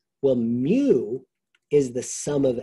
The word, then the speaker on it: mu: Well, if I have all of the data, all data, we're gonna call it mu, it's pronounced M-U, it's a Greek letter for small case m, for mean, but it's mu, and that is called the population mean.